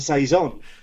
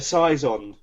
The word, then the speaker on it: saison: no idea um because all i know now is is that it's a saison maybe i used to call it a size on maybe i don't know